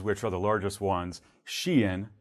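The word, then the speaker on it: Shein: are the largest ones shien kind of spelled like shine some of viewers may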